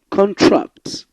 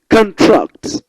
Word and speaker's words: contract: Now, contract, insult, contrast. So when you pronounce the first syllable, the word appears as a noun. Contract. But when you stress the second syllable, it appears as a verb.